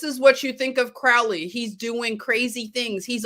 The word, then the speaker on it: Crowley: And of course, Ozzy Osbourne had to correct everybody and say it's Alistair Crowley.